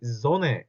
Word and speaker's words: Sonne: 자, n이 두 개 들어가니까 die Sonne 하고 있는 게 아니라 die Sonne, n 하나 발음입니다. die Sonne 이렇게 발음을 하셔야 돼요.